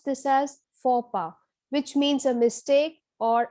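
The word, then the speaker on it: faux pas: this is pronounced as fopa so the x and the s are clearly silent we pronounce this as fopa which means a mistake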